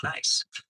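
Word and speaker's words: gneiss: One of the metamorphic rocks you see around you is called nice. Nice is spelled g n e i s s and pronounced just like the word nice, like have a nice day.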